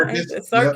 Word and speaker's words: Andy Serkis: Andy Serkis.